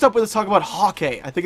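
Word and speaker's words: Häkke: in the destiny forums it is pronounced hockey kind of like hockey but like hockey ok ok you know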